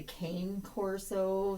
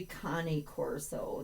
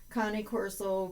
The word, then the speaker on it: Cane Corso: that we have been questioned about is the pronunciation of the name. I frequently just call it a cane corso. C A N E Corso. Uh and it's actually Connie Corso.